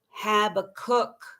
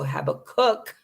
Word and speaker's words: Habakkuk: bible that we're going to go to i pronounce it have a cook some people say but it's clearly kkkuk at the end so have a cook that's how i say it and it's uh uh habakkuk chapter 2 verses 2 and 3.